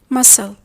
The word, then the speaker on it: muscle: We say scenario, scene, scenery, scent, science, scissors, muscle, descent, fascinate, discipline, crescent. The C is silent after the S letter.